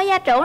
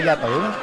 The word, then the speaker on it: gia trưởng: Bạn ơi, bạn có gia trưởng lắm không? Mình không gia trưởng mà. Gia trưởng chứ không phải gia tưởng.